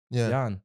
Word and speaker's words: Jan: my name is Jan Yan I say yan I say the a more open yan other people say may I say yan you understand it's very small difference yan and people pick